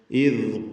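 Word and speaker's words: إذ: ഇദ് ഖാല, ഇദ് എന്ന് ദാലിൻ്റെ ഉച്ചാരണം അതിൻ്റെ മഖ്റജിൽ നിന്നാവണം. നാവിൻ്റെ അറ്റത്തിൻ്റെ മുകൾ ഭാഗവും മേലെ മുൻപല്ലുമാണ് ദാലിൻ്റെ മഖ്റജ്. റഖാവത്തോടുകൂടി അയവോടുകൂടി ഉച്ചരിക്കേണ്ട അക്ഷരം കൂടിയാണ്.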